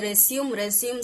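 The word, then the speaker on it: résumé: அதுல ஒண்ணுதான் ரெஸ்யூமே writing. ரெஸ்யூமே writing பத்தி நம்ம இன்னைக்கு பார்க்கலாம். அண்ட் ரெஸ்யூமேவை நிறைய பேர் தப்பா ப்ரொனவுன்ஸ் பண்ணுவாங்க. ரெஸ்யூம் சொல்லிட்டு சொல்லுவாங்க. That is நாட் ரெஸ்யூம், இட் இஸ் ரெஸ்யூமே.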